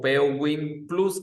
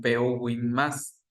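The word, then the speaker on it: PUWin+: Em, se traduce o lo o lo podemos eh pronunciar como PUWin más o PUWin plus, que es en realidad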